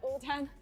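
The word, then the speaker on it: 无糖: And so actually your ID is pronounced as Wu-Tang in Chinese. In Chinese. Really? So wait, so it's sugar free. Wu is sugar. No. Wu means free. Oh. Tang means sugar. So Wu-Tang means sugar free in Chinese.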